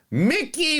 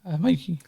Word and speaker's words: Mikey: Mikey Madison. That's what I said, Mickey. Mikey. You say Mikey, I say Mickey. Well, no, it's spelled Mikey, and that's how it's said by everyone else.